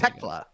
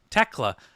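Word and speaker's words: Thekla: Techla. Techla. Um, the th really bamboozles me.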